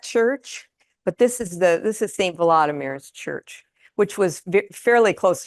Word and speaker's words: Volodymyr: And I've heard it pronounced Volodymyr and Volodymyr, and I'm really not sure. The latest pronunciation I heard was that it is Volodymyr. It's like in Russian, that would be Vladimir, VLAD.